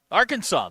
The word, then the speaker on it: Arkansas: still back there um Arkansas the state got its name from French settlers in the region however the word Arkansas is pronounced with silent S at the end of it it was originally Arkansas